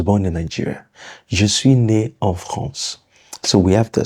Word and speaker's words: née: But does it change the pronunciation? No.